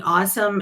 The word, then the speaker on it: AWSM: I took the vowels off, so it's AWSM, and a lot of people think that it's ASMR or whatever, but you just spell it out or sound it out, and it's awesome, Mary.